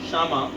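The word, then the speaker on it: Kshama: सो दया एंड क्षमा, that के is silent there. Okay, दया का capital is how much? 1,60,000. Daya is 1,60,000. Leave 2 lines, and then we have Shama.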